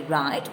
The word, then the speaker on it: write: But when we write, we should write those letters. Look at the given words. Write, W is a silent letter.